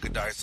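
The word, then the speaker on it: Giudice: How do you pronounce the last name? Goodice? Yeah, Goodice, uh-huh.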